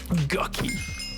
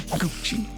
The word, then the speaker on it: Gucci: to mispronounce things sometimes it is assuredly not gucky it is Gucci it's pronounced that well there's a thing I thought